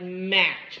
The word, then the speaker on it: match: The T is silent, it's just ch. Okay? So when you have this in a word like, okay, in a word like match.